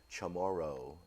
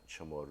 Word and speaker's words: CHamoru: Generations are going to think we're Chamorro and not chamoru chamoru and so um but